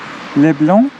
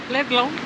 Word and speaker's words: Leblon: you will find yourself in another beach called Leblon or what Mariana is making fun of my French accent pronouncing it. How is it in Portuguese? Leblon.